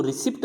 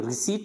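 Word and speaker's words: receipt: फिर यहाँ पे एक पी आ रहा है तो इसको रिसिप्ट नहीं बोलते अपन, ज़्यादातर क्या बोलते हैं इसको, अगर अपन कोई जैसे पैसे देकर अपने को वापस रसीद देता है उसको अपन क्या बोलते हैं, उसको रिसिप्ट, रिसिप्ट नहीं होती है वो रिसीट होती है, क्या होती है, रिसीट।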